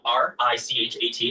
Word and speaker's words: Richat: Yeah, the Richat, R-I-C-H-A-T. It's worth mentioning that, in the first couple, I just want to say it's Richat. I used to call it Rickot. I was mispronouncing it.